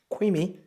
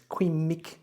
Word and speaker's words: Qimic: together two pence worth on the creamy oh I bet you I got that name wrong it's Queen Mick or self stable stabilized